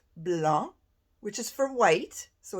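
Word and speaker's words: blanc: our french lesson yesterday we don't pronounce the C and it is pronounced Blan which is for white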